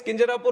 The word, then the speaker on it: Kinjarapu: And my name is Kinjarapu Ram Mohan Naidu. And when some people say Kinjarapu, there might be some problem with them. They can't pronounce it the way I pronounce it.